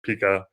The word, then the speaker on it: Pika: research on it but the project is pronounced pika like the cute cuddly kinda you know now sea